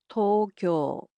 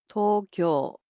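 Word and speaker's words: 東京: The capital of Japan, Tokyo, in Japanese is pronounced as Tokyo. Tokyo. So, it's similar to English except the O sounds in it are a bit longer.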